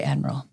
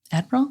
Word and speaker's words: admirable: servanthood heart is very admirable. Admiral? Is that the right word? Pretty close. Okay. Admirable. Admirable. Okay, there we go. I had extra syllable.